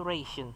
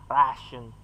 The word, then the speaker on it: ration: Kalau kita mesti ngira pertama kali main ini pasti ngira bacanya itu ration, tapi salah, bacanya ration.